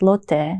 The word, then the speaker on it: Lotte: And the Korean conglomerate corporation Lotte, pronounced Lotte in Korean, commemorates Charlotte or Charlotte of German writer Goethe's famous novel of unrequited love, The Sorrows of Young Werther.